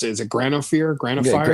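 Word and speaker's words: Granophyre: I don't know how you pronounce it. Is it Granophire? Granophire, yeah.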